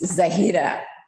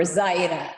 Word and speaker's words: Zahira: It's Zahira or Zaira, depending on how you want to pronounce it.